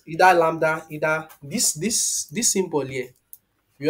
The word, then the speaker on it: lambda: Either lambda, either this symbol here. We always, I think we pronounce it as, this one is pronounced as lambda.